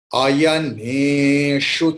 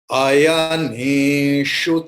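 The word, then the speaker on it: अयनेषु: Ayaneshu cha sarveshu. Here you have to see ne is a is long vowel. Other than and sarve a is long vowel. So everything will be shortly pronounced except a.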